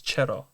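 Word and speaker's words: چرا: Yeah, we don't say chua, it's chera.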